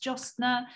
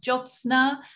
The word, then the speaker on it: Josna: to people such as josner i just said your name wrong josna i knew i was